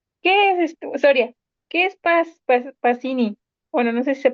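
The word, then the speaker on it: Pacini: que lo ubique Soria No pues no se dice pachini cuando do c en italiano lo dice como Che Como creo que frapuchino si has visto cóm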